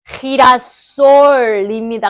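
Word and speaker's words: girasol: 친구라고 했으니까 오 맞아요 우리 왜 이렇게 진도가 좋도가 아니고이 수준순이 높지라솔이 아니고 아까 전에 헤였기 때문에 히라솔입니다. 같이 읽어 보실게요.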